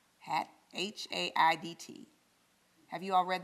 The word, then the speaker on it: Haidt: Our pastor did a whole sermon series on the book, The Anxious Generation by Jonathan, mispronouncing his name, Haidt, H-A-I-D-T.